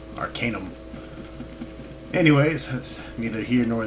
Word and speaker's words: Arcanum: wizard back and notice I did pronounce it Arcanum I did have a comment that I was mispronouncing it by saying Arcanum tomato tomato so I'll try to remember to pronounce it being that the prefix is pronounced arcane we're just adding a um at the end Arcanum anyways that's neither here